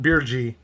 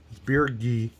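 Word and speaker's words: Birgi: there's god beergi now it's not birji beer ghee after being hemmed up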